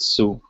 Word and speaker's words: Sou: And it's just pronounced Su. And again, one of the simple ways I remember it is this is kind of like a funny looking S with a little U on top. So that's one easy way